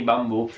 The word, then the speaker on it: bambù: riguarda l'hashtag gnocche di bambù. Allora, sono accettate con due O, ma preferisco se la usate tutti scritta così: hashtag gnocca di bambù con l'accento sulla U così. Bambù, proprio bu.